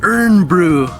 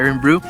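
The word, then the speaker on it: Irn-Bru: Nous avons donc appelé il Urn Bru. Nous avons complètement foiré. C'est supposé être appelé Iron Bru.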